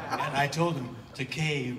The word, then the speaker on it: Takei: and i told him take a rhymes with okay to help him uh memorize and he says you know takei is definitely okay compared to takai and i told him